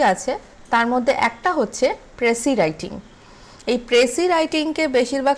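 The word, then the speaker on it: précis: ঠিক আছে, স্পেলিংটা PRECIS, কিন্তু আমরা উচ্চারণ করছি প্রেসি।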